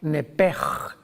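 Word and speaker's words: נפש: La palabra vida en Levítico 11:17, si no me equivoco, es la palabra nepej, que se escribe nepesh en el hebreo, que es la traducción que se usa para designar el alma humana.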